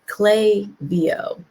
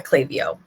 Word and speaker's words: Klaviyo: kind of phonetics around how to say it and it is clay vo um so the venetics